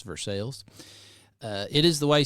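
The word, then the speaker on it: Versailles: up in versales Kentucky it's the correct way to pronounce that it's versales uh it is the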